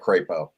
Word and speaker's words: Crapo: uh Mike Uh crap so how do you pronounce his last name or we we call it crapo uh they're they're perfectly willing to call him